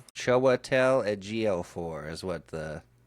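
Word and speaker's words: Chiwetel: Choatel edg4 is what the pronunciation thing says.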